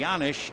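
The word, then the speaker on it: Janish: takes a little break the yanish is a Czechoslovakian name but Paul says he has no idea why the J is pronounced like a y the one oh Pitch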